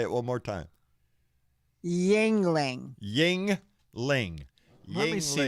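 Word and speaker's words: Yuengling: yeah yeah yeah yeah i'm ready it's called yingling yingling ningling yeah okay even my best guess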